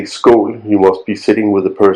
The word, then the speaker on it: skål: It's pronounced and spelled skål, S-K-O-L. O is the letter A with a circle on top.